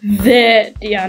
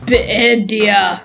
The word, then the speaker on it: Vidia: It's pronounced Vidia, not Bidia.